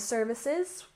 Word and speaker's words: services: first syllable streaming streaming and services stress the first syllable Services services so these are apps that